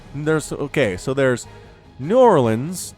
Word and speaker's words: New Orleans: And then there is the native pronunciation of the city, which is Nolans.